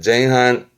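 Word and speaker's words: 前半: 발음은 쟁한, 쟁한.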